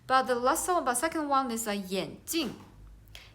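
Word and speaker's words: 眼镜: So we can see the only one difference is second syllable, the one is the first tone and one is the fourth tone, so they have the different meaning.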